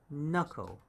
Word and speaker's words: knuckle: kn put together so k is silenced and it's knuckle knuckle like that knuckle right there and